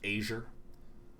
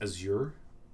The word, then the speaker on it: Azure: i'm saying it like asia it's actually pronounced azure with an emphasis on the second syllable and the a not